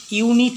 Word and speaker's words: unit: We have blank unit test today. Unit ইউ উচ্চারণ হয়ে যাচ্ছে, তাই a unit test.